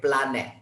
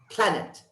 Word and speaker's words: planet: second word planet planet even though it's p l a and because we're indonesian we say planet right it's automatically we see the word and our tongue goes right in english we say planet listen planet planet planet